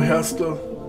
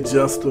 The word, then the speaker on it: Gesta: All right, we're gonna take a quick look at Ryan Garcia's next opponent, Mercito Gesta. Some say Gesta, but from what I understand, it's pronounced Gesta.